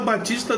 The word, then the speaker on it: Baptista: do pé entendeu porque na hora de você pronunciar você vai falar Batista da mesma forma o píer mudo mas ele queria dizer